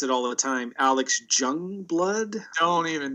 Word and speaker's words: Joungblood: Alex Joungblood. Don't even say. Yeah. Starts with a J, pronounced as a Y.